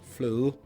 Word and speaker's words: fløde: Rød med fløde. Good luck pronouncing that. So yeah. Now it's a soft D, like fløde.